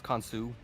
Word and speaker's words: Khonshu: it could just be instead of Khonshu, it's Khonsu. It's Khonshu.